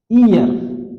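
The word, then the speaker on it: heir: देखिए ईयर, ईयर क्या है? उत्तराधिकारी इसका हिंदी वर्ड होता है, बट इसको हम पढ़ते हैं ईयर। यहां यच साइलेंट हो जाता है।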